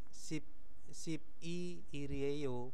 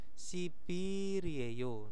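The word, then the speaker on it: 십이일이에요: Nah, itu bacanya itu bukan sip i irieyo, bukan. Nah, itu nanti bacanya i-nya itu agak panjang, sipirieyo.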